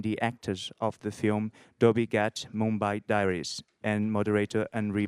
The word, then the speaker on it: Dhobi Ghat: How do you pronounce the title? Dhobi Ghat?